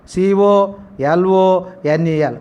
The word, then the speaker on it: colonel: COLONEL, colonel. L is silent.